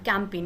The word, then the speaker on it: campaign: CAMPAIN का sound आता है और G रहता है साइलेंट, कैंपेन यानी कि अभियान।